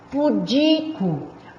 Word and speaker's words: pudico: Eu falo pudico, a sílaba tônica é o di. Pudico, tá? Então, são palavras paroxítonas.